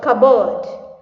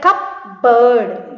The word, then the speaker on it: cupboard: Cupboard. Right? You won't pronounce it that cupboard. You will say cupboard.